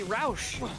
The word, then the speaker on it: Roos: It shouldn't be pronounced Roos. It should be Roush.